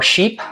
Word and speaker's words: chypre: So it's considered a woody chypre or sheep, I think it's actually pronounced.